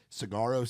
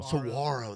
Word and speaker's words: Saguaro: Whiskey, Cry Cowboy Cry, Cigarro Sunrise. Is that how I say it right? Saguaro. That's my Yankee, not Yeah, exactly.